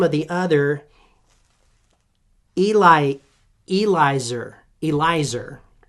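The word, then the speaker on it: Eliezer: Elizer is how you say that. Not Eleazar. That's a different god.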